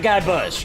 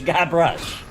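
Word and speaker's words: Guybrush: Not Guy Bush, Guy Brush. Brush.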